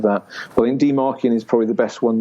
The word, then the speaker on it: dmarcian: But the website is called Demarkian, so I'll spell that out because it's quite a funny name.